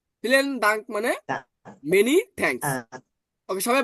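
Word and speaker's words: vielen Dank: বিটাকে always এখন কি উচ্চারণ করবো? ফ। আর ই এ, ই এ, তাহলে এটার উচ্চারণ কেমন হবে? এটাও এর মতো উচ্চারণ হবে, তাহলে ফি, ফি।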